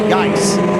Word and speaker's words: Geis: Cook is rolling, and here comes Geis. Looks like it's spelled like juice, but with a G, and he's got plenty of that right now.